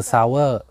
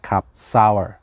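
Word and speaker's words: Sour: เปรี้ยว แปล ว่า เปรี้ยว ไม่ ใช่ ซาวด์ ที่ แปล ว่า ศาสตร์ เสียง หรือ เซ้า ที่ แปล ว่า ใต้ ใช่ มัน คือ ซาวเวอร์ แปล ว่า เปรี้ยว sol ur เซา เปรี้ยว ครับ ไป อ่าน ออก เสียง ว่า เสา เอ้อ นะ ครับ ซาวเออร์ ตัว ต่อ ไป อัน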